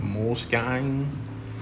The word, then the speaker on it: Moleskine: I think, yes, these are moleskin. I think that's how you say it, moleskin. Some people pronounce it moleskine, which is weird, but it's cool.